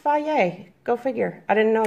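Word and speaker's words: Fage: what's called fie yay I used to say fake but it says it's pronounced bye yay go figure I didn't know that I picked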